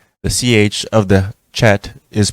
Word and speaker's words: Chet: The CH of the Chet is pronounced like the CH of the Scottish word lock.